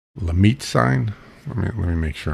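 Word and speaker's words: Lhermitte: And as it turns out, that's something called Lemaitre sign. Let me make sure I'm pronouncing this right. Lermite, yeah, it's pronounced Lermite sign, and generally, it's from when you tip your head down.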